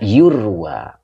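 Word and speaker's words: يُروى: Jadi dibaca yurwa. Nah, yurwa ini fi'il mudhore majhul. Biasanya ruwiya. Sekarang dibaca yurwa.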